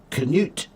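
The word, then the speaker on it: Knut: and his name is Canute and it's spelled K N U T. Canut because yeah, originally the K was pronounced.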